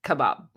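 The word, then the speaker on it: kabob: I would say k a b o b Kebab not Kebab Kebab or Kebab not Kebab like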